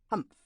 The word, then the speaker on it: humph: Humph, said the sand fairy. If you read this story aloud, please pronounce humph exactly as it is spelled, for that is how he said it.